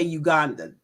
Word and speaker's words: Uganda: Yes, I will be returning to Uganda, and we say Uganda. The proper pronunciation, by the way, is Uganda.